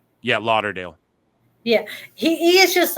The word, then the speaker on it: Lauderdale: Yeah, Lauderdale.